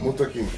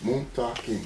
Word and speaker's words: Muntaqim: Jalil Muntaqim, 3 syllables. Muntaqim. Muntaqim. Muntaqim.